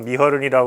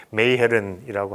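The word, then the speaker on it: Meegeren: 옛날에는 그냥 영어식으로 해서 미허른이라고 그러는데 요즘 제대로 하면 이제 메이헤른이라고 하고, 베르메르도 마찬가지죠.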